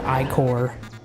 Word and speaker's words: ichor: I don't care that it's pronounced ichor, because ichor stickers exist, and I think that sounds funny.